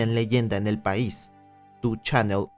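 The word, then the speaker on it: 2ちゃんねる: Frecuenta una página que se convertiría en leyenda en el país, tu Channel o Ni Channeru, para la pronunciación local.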